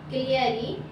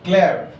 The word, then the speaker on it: Clary: Their middle child is called Clary. She is Okay, so that pronunciation will be Claire. Middle child name is Claire. yes, Okay, don't say Clary, E silent over there.